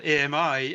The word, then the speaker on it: AMI: So we have this thing, autonomous or advanced machine intelligence, that's spelled AMI, and in French you pronounce this ami, that means friend, in French, which I think is a good analogy.